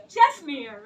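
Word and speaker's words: Čestmír: Ah that's me how to pronounce it chesir right yeah chesir yeah but I pronounce it's long like when I meet check people they say no not even my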